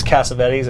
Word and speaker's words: Cassavetes: It's spelled weird, but it's Cassavetes.